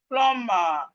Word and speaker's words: plumber: The B in plumber is silent. The B here is silent. And this is the word is correctly pronounced plumber, not plumber. Please, let's stop saying plumber. It's not plumber, it's plumber. Plumber. The B is silent. We are not supposed to pronounce the B.